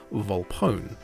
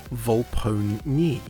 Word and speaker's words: Volpone: speakers would pronounce as Volpone, with the E silent, changing the O sound from Volpon to Volpone. Same as phone, bone, drone.